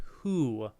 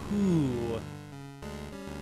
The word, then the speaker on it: Who: No, it's pronounced who. It's pronounced who.